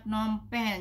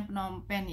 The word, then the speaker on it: Phnom Penh: ini adalah negara Kamboja ibukotanya penopen jadi bacanya Phnom Penh anak-anak pemerintahan Kamboja adalah